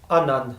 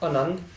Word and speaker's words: Anand: And also notice the kanna after ada, so have to pronounce it Anand, not Anand, but with the more open mouth and with the expansion of A. Anand, not Anand, Anand.